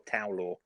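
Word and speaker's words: Tow Law: It's pronounced Towlaw or Towlaw.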